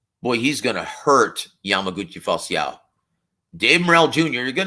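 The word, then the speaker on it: Falcão: he's going to be taking on a Yamaguchi falciao and yes that's the proper pronunciation and it's Portuguese so you guys want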